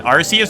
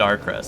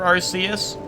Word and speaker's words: Arceus: Long C for Arceus? Arceus? Like that? Arceus? I mean, that's kind of how I do. Arceus. I just say Arceus. Like Arse. The Eus should be pronounced like Deus.